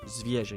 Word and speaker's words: Zwierzę: Zwierzę, yeah, because that E with the little tail at the end is not pronounced nasally.